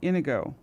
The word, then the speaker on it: Inigo: was Indigo myself but I'm seeing i n i my name is indigo no Ino Inigo Inigo in i n I go o I'm not saying I'm pronouncing it right no no no no no Inigo I thought it was Inigo is that how you pronounce it I think but it's said it's with an i it makes sense because he's probably from a place where e is I is pronounced e true yeah true an